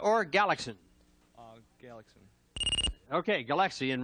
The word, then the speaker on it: Galaxian: is that Galaga or galaxin uh Galax okay galaxian right I mispronounced it that's correct though number two merer